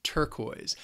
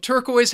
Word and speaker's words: turquoise: The first color I have for you, and I really like this color, that is turquoise. Now, turquoise has two syllables and the stress is on the first syllable.